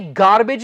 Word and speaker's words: garbage: एक चीज का आप ध्यान रखें, अक्सर शब्द के एंड में जब AGE आ जाता है तो अक्सर इसका जो उच्चारण है वो एज नहीं होता, वो बन जाता है एज, बट हमेशा नहीं, अक्सर. जैसे ये गार्बेज नहीं है, ये है गार्बेज.